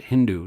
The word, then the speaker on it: Hindu: Sanskrit is called Sindhu the Muhammadans pronounced s as H instead of Sindhu they made it Hindu so Hindu is a